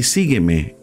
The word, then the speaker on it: sígueme: tíos atrás vi y sígueme en sólo mí por favor louis vamos a leer y modificó paty cantú es una forma de hold pronounced sígueme sí que me tres sílabas tres y la bolsa